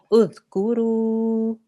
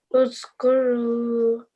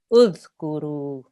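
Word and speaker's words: اُذْكُرُوا: So when you pronounce it, you have to say udh. Udhkuru. Uzkuru. Very good. So we don't want to have a z. There's no buzzing sound there. Okay, it's more like a th sound.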